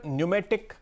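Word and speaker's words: Pneumatic: जिस स्टॉक पर आज मेरी नजर है उसका नाम है किर्लोस्कर न्यूमेटिक कंपनी। और न्यूमेटिक का जो प्रोनाउंसिएशन है वो एन है, लेकिन ये PNEU होता है।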